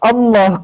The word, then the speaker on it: Allah: keluarlah lima huruf ini dibacanya tetap Allah. Karena kenapa? Di situ ada lam jalalah dibaca tafkim. Hm. Tebal. Tafkim atau tarkib ya? Mohon maaf kalau misalan ya. Dibaca tebal.